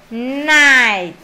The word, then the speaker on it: night: được vô phiên âm quốc tế này rồi Night ồn ào quá k cái chữ g Nó